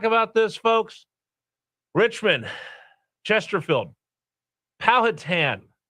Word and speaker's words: Powhatan: So Powhatan is how is I believe how you pronounce it. The other day I just kind of was lazy and said Powhatan, not pronouncing The emphasis is on the wrong syllable.